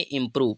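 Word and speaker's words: improve: लगा दिया ठीक है ओ जो होगा ठीक है ओ ठीक है ओ यहां पर यू के लिए यूज किया है ठीक है तो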